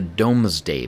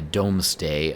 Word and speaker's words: Domesday: accounting known as the domesday book sounds like Doomsday but it's spelled D o m s d a y Dom day I don't know if